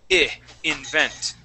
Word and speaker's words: invent: Okay, but the I in this word is going to have a short I sound. So instead of saying invent, we want to say invent.